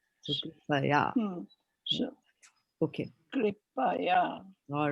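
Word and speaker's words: कृपया: So you're going to say here. Not higher. Okay. Here. Because there's no A in between. But here there's an A. So Kripaya.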